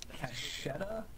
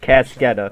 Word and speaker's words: Cascetta: Cachetta? Is that how you pronounce that? Cachetta? Well, really, it's pronounced Cascetta.